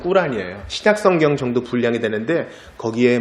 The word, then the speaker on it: 꾸란: 우리나라는 주로 코란이라 그러는데 그 사람들 발음으로는 꾸란이에요.